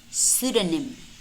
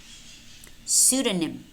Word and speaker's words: pseudonym: which in which case the letter P is not pronounced it's silent listen and repeat pneumonia pneumonia pseudonym pseudonym psychiatrist psychiatrist in other